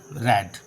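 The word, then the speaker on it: read: मैं पढ़ चुका हूँ, आई हैव रेड, पढ़ चुका हूँ, रीड रेड रेड, रीड की स्पेलिंग सेम रहती है, पढ़ा उसको जाता है रीड रेड रेड, ठीक है।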